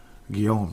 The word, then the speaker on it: Guillaume: Guillaume, just like Guillaume Latendresse. That's how I know how to pronounce it.